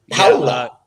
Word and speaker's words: Paola: I had to break it down phonetically so I could always say it right. Paola. Paola. Powla.